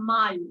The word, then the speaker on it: mal: you can say saba mal mal is known i'm not very good okay you pronounce l over there okay these are all